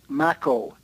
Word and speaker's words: Makow: Right, and then my name is Makow, Makow. Oh. Rhymes with tobacco.